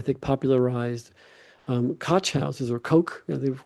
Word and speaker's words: Koch: Hand um I think popularized um cotchouses or coke the correct pronunciation for the German ko h coke or or is how you say it actually I believe or coke coke.